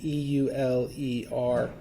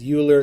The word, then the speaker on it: Euler: Some people pronounce it Euler. That's sort of one of the ways that I grew up, I think, learning was Euler. It sounded a lot like Bueller from Ferris Bueller's Day Off. It just clicked in my brain, but it's pronounced Euler. Again, different country, different pronunciation.